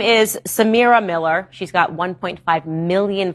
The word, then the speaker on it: Samyra: Samyra.